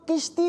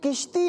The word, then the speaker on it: کشتی: کشتیاں ہوتی ہیں۔ اچھا بعض لوگ اس کو کشتی پڑھ رہے ہوتے ہیں کاف کے نیچے زیر لگا کر، تو یہ کشتی نہیں ہے، اصل جو اس کا اردو کی ڈکشنری کے اندر جو تلفظ ہے وہ کاف کے اوپر زبر ہے، کشتی، ٹھیک ہے، پیش نہیں